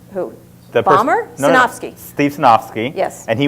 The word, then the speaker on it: Sinofsky: How do you pronounce his last name? Who? The Ballmer? No. Sinofsky.